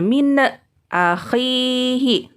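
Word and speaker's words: مِنْ أَخِيهِ: Jadi pengucapannya tidak boleh nunnya dipantulkan. Ya, tidak boleh min akhihi. Atau diputuskan. Min akhihi. Itu tidak boleh. Jadi dibacanya mengalir saja.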